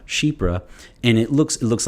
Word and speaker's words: chypre: you guys know that it's c-h-y-p-r-e and it's pronounced sheep ra shebra and it looks it looks like chipper or